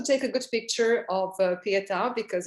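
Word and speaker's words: Pietà: So the Pieta, with an accent on A, but you can pronounce it as you like.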